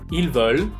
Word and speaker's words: ils veulent: Esa ENT que existe cuando conjugamos los verbos con ellos y ellas, esa ENT no me la pronuncian.